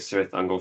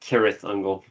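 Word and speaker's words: Cirith Ungol: I'll never forget Sir Uncle for mispronouncing their name. Shut up. Lord of the Rings nerd. In the Lord of the Rings, they pronounce it. They pronounce it Kirath Uncle.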